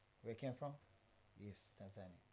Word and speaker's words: Tanzania: I just want to know, how is it pronounced? Is it Tanzania? Where it came from? Yes, Tanzania. Tanzania, not Tanzania.